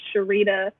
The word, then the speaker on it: Sharita: Once again, Sharita. If you read it and aren't sure how to pronounce it, it's by Cher Margarita. Shake it together.